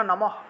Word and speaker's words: নমঃ: এর পরে বিসর্গ সেজন্য নমঃ উচ্চারণটা হবে নমঃ অর্থাৎ নমঃ আর বিসর্গের জন্য হ উচ্চারণ আসবে তাহলে নমঃ নমঃ এভাবে